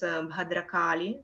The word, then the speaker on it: Bhadrakali: Usha Didi, can you pronounce Bhadrakali correctly? Bhadrakali, Bhadrakali. И здесь вы видите, что здесь делается не за счет предстоящей перед буквой Д, а, то есть мы не тянем бхадракали, а мы делаем бхадракали, как будто бы мы